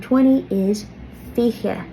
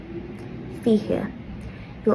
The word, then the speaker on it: fiche: 17 a shocked jeg, 18 a hawked jeg, 19 a knee jeg, and 20 is fiche. Fiche. You'll also hear some people pronounce this fiche.